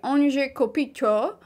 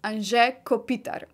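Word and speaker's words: Anže Kopitar: name that Americans do not know how to pronounce usually they say an kopito or Anto one of the many variations of his name but the Slovenian pronunciation is an Kopitar he is a Slovenian professional ice hockey player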